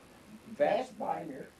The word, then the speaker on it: Vestbinder: Vestbinder. You want to spell it? V-E-S-T? V-E-S-T-B-I-N-D-E-R. It's like it's pronounced.